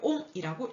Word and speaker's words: 옴: 자, 옴의 법칙에서 그 사람의 업적을 그리기 위해서 이렇게 희한하게 와이어처럼 그려놓고 읽을 때 뭐라고 읽는다고요? 옴이라고 읽으시면 됩니다.